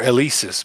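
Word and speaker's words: Eleasis: Eliasis. Hmm. Or Elisis, apparently. That's how it's pronounced.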